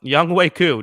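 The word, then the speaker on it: Younghoe Koo: too i don't understand uh young way coo don't pronounce it how it's spelled yeah uh incredible and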